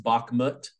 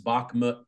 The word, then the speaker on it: Bakhmut: But something that I've noticed in my YouTube comments section is a lot of chatter around, I believe it's pronounced Bakhmut.